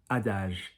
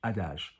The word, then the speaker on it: adage: So not adage, adage. Soft G, because G followed by an E and an I in French is soft.